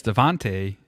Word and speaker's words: Devonta: Yes, Devontae has been awesome.